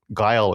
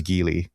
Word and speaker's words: Guile: names, but it's like Guile in Street Fighter, I used to pronounce him as Gil. Mhm. Which doesn't make any sense.